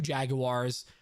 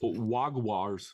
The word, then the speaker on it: Jaguars: cars and like one it's pronounced wagars wagars Wagar Jesus like banglas very very soft J um but like this